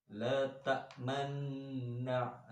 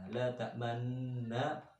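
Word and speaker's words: لا تأمنّا: La ta'manna itu namanya bacaan ismam, yang mana asal kata dari lafaz la ta'manuna. Di situ ada nun bertemu dengan nun. Maka di situ ada istilah bergandengan dijadikan satu. Makanya membacanya itu kayak rada anak moncong-moncongnya, kayak anak huruf wawu ya. La ta'manna. La ta'manna ada dengungnya, terus dimoncongkan. Ya, itu bacaan ismam.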